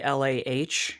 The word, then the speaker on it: Calah: I looked up how to pronounce that because it is not spelled the way you think it should be. Calah.